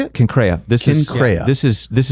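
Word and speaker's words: Cenchreae: Concraa.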